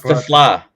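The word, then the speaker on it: TeSlaa: And y'all just say his last name wrong, so it's fine. Whatever. It's Tesla.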